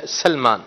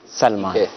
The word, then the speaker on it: سلمان: درست جو نام کی پروننسیشن ہے، تلفظ ہے، وہ ہے سلمان. سلمان. حضرت سلمان فارسی رضی اللہ تعالیٰ عنہ کی نسبت سے نام ہے سلمان.